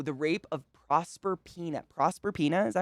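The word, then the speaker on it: Proserpina: the rape oh the rape of prosper peanut prosper pena is that how you say it prosper pena yep it's literally a rape i wasn't being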